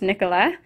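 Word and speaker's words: Nicolas: Love, Nicola, aka who your parents named you after, because we realized until after we had chosen Nicholas's name that Nicholas in French is pronounced Nicola.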